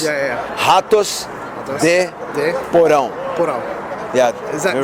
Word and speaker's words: Ratos de Porão: You mean the pronounce? Yeah. Ratos de Porão.